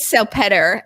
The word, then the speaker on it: Salpeter: I want to bring on my guest today, Salpeter. Am I saying that correctly? Yes, you are. Yeah, it depends on what part of the world you're in as to the pronunciation, but you nailed it.